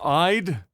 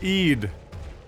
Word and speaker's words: Eid: It's eyed dayto day. Care to elaborate? Pronounced Eid.